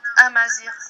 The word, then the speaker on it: Amazigh: How do you spell it? No, Amazir, Amazir.